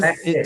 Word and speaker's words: classes: Okay, we have to have an extra syllable there. We have to make that extra sound.